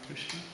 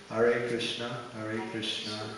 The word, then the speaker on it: Krishna: he also stressed the importance of chanting cleanly kishna kishna sometimes in Kiran in ecstasy the Ecstasy somehow overshadow our pronunciation that's a right if it's Ecstasy but if it's not ecstasy that's something different but not everyone understands your ecstasy so try to pronounce it right r or what